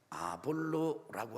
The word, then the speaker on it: 아볼로: 그런데 그 지역에서 말씀을 전하던 아볼로라고 하는 사람의 설교를 듣게 됩니다. 한번 따라합시다. 아볼로. 영어 발음은 아폴로입니다.